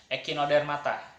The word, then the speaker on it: Echinodermata: ya tapi kita akan ekino dermata ini dibacanya echinodermata ekino dan matanya berasal dari